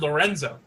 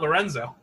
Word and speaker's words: Lorenz: no no you said lorenzo no i said i like lorenzo his name is not lorenzo see that's how forgettable these characters are i like lorenz am i pronouncing it correctly now yes i'm not even pronouncing